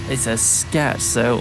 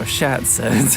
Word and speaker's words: scherzo: It's a scherzo or scherzo, depending on where your you come pronunciation.